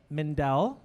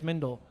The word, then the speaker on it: Mindell: the lost parrot cafe I'm here with Jeff Mendell hi now I did say his name correctly some people think it's Mindel I think you called me I did I